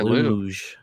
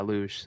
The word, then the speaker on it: luge: I did not say lu. Oh yeah, luj.